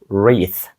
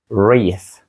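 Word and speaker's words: wreath: ми Вішаємо на двері він звучить як reath reath це трішки складне слово по-перше там є літера w яка не вимовляється спочатку воно зразу звучить як починається ніби з R reath і в кінці TH наш улюблений звук ф re він глухий не дзвінкий не re а re reath далі в нас слово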